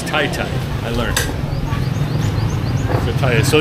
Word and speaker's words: Taytay: please so this uh how do you say your town Tay or you're Tay or Tata you're in the roundabout is the name TI Tai all right so I'm not it's not Tata it's TI Tai I learned